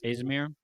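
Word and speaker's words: Azimir: Azamir. Yes. Azamir.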